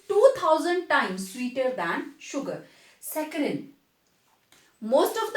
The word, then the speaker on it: saccharin: They make use ऑफ सैकरिन। आप उनको पूछना तो आपको बताएंगे, they will pronounce like screen, right, it इज सैकरिन।